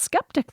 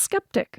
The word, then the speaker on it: sceptic: And I just want to go on record here as saying that it's still pronounced skeptic, though, isn't it? Yeah, but that's not how it's spelled. But it's still pronounced skeptic.